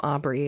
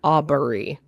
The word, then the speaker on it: Aubrey: Yeah, the Aubrey thing too was weird because they like the name Aubrey is two syllables and it was like Aubrey. Yeah, it said it like three syllables.